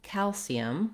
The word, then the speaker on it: calcium: So firstly, looking at the word calcium, we have first syllable stress.